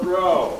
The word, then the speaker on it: Gros: Growing up in Louisiana, my last name is Gros, G-R-O-S. Outside of Louisiana, it's not that common. You go down to Louisiana and it's as common as Brown or Smith. The S is silent, so thank you for that.